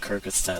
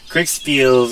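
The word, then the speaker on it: Kriegsspiel: Um as early as the 1700s um there were there was a I called it Kyrgystat last time which is so wrong.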